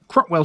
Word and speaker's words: Cropwell: Cropwell certainly rhymes with Hoe Hill after all.